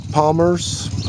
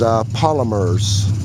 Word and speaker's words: Polymers: Palmer's, or no, I keep saying his name wrong. It's Polymers, as in plastic polymers.